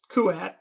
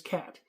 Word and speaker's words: Kuat: you had this guy whose name was Cat. Well, Kuat, but back then I pronounced it as Cat.